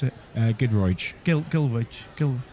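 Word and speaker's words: Giedroyc: were comedians yeah I mean Mel Gil Mel gilo is that how you pronounce i you pronounce it uh goodro Gil gil g well good look Ed this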